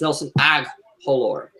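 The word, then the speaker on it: Nelson Agholor: you threw up it's Nelson aore or Nelson aalor the H is silent that's Nelson agular Matt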